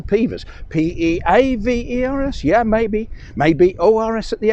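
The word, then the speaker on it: Pevors: P-E-A-V-E-R-S? Yeah, maybe O-R-S at the end, but definitely an E-A or double E. No. P-E-V-O-R-S with no apostrophe. Just Pevers. But it's not. The correct pronunciation is Peavers.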